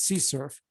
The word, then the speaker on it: CSRF: uh excuse me csrf which somebody thinks you ought to pronounce c surf which i haven't or x s r f where cross is abbreviated with an x instead of a c okay anyway what is